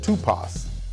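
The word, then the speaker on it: τύπος: The Greek word for examples, pronounced tupos, which means the mark of a stroke or blow, print, a figure formed by a blow or impression.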